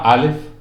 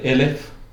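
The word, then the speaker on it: אלף: de la letra bueno se llama alef alef que también se puede pronunciar elef que algo muy curioso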